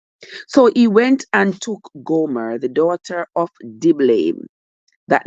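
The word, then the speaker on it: Gomer: a wife know so he went and took Goomer g o m e r the daughter of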